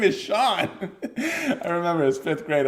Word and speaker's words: Sean: also S A an the name Sean I thought it was seene when I first saw it and I got into an argument with aan about his own name he's like no it's a scene or he's like no it's Sean I'm like no look